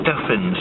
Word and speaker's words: Stephens: see the sign but it spells like Stephan's it's Stefan's ID that is a